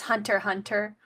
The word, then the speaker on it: Hunter x Hunter: x Hunter whenever I see the name as Hunter Hunter no that's the actual way you're supposed to pronounce it I'm just a dumb